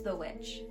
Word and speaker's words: The VVitch: It says The Witch, and it looks like it's two V's, like VVitch, so like Vitch almost. But it's The Witch.